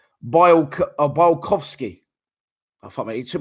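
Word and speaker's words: Białkowski: So So yeah, for me, someone's put his name is pronounced Bialkowski.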